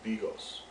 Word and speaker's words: Bigos: teach you how to make Hunters 2 or pronounced in Polish as Bigos it's a perfect dish to have on a